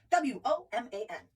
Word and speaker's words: woman: The first one is W-O-M-A-N. We know what that is. Woman. No, it's not woman, it's woman. Woman. The emphasis is on the first syllable.